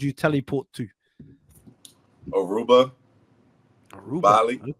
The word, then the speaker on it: Bali: teleport to aruba aruba Bali I think I pronounced it right let's see no it's it's called Bali Bali n joking hey don't